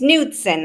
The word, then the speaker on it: Nudson: It's Nudson, like a nude sun, Aaron.